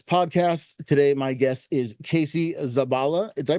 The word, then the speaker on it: Casey Zabala: Today, my guest is Casey Zabala. Did I pronounce that correctly, by the way?